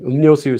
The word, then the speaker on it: 음료수: You might see this on a sign, like 음료수, something like that. Okay, letter, here we have 리 followed by this letter. So this letter becomes pronounced as 니은. 음료수, 음료수, 음료수.